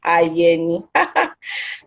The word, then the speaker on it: Ayeni: myself my name is i'm an advocate are you ign i've been told to pronounce my name right yani i'm an advocate for